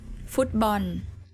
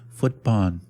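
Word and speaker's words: ฟุตบอล: Footbun. I love this one. There's something kind of cute about this pronunciation. I don't know why. Footbun. Footbun. He just I don't know why it uh and again there's no L at the at the end of the word at the end of Tai words.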